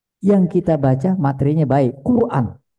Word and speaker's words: Quran: kita baca materinya baik Quran bukan qoran Quran di sana cara